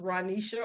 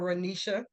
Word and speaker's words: Renessa: So my name is spelled Renessa. It's pronounced Ronisha or Ronisha.